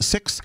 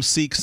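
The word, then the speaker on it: Sikh: not to say that some sicks will refer themselves as siks and they will respond because of the nature of who they are and the way that they engage with everybody if you call them seeks they will not correct you uh they will say you know what we're glad to chat with you but um I always use the Expression six because I believe that that is the the proper English pronunciation if you will uh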